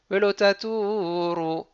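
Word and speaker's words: ולא תתורו: Donc les deux mots sont collés. C'est pas un Azla Gerish, c'est juste un Gerish. Et ils sont collés par un makaf. Velotaturu milael.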